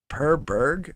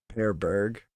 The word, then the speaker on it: Per Berg: His first name is Per, but it's spelled P-E-R, and his last name is Berg, B-E-R-G. Um, Per Berg, I think is how you pronounce it.